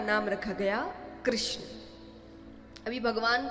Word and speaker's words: कृष्ण: कृष्ण बोलने में जीभ घूमती है। बोलो। घूमी जिसकी नई घूमी गलत बोल रहा है। सही उच्चारण करेंगे तो घूमेगी तो भगवान का नाम रखा